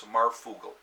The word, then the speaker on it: Marfugel: Okay, so he goes by Marf, and then it's Marf and then Oogle instead of Google. So it's Marfugel.